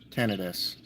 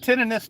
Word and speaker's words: tinnitus: There's several different things that triggers tinnitus. Is it tinnitus, titinus? How do you pronounce this shit?